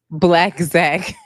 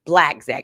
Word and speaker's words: Blacc Zac: Black Zack. Track. Black Zack. Okay, I can remember that because it rhymes.